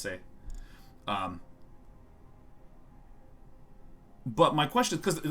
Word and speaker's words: c'est: I know that, like, say is pronounced say, but the C apostrophe EST is pronounced say.